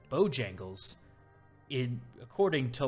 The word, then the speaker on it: Bojangles: there are plenty of businesses that are not pronounced how they would in just natural language like bojangles in according to like english rules i'm not an english major anything would be bajangles mostly emphasize the second syllable in a word